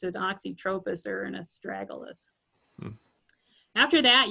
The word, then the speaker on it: Oxytropis: I always told myself it'll poke your eye out because it's got a sharp little point on it, and Oxytropis rhymes with poke.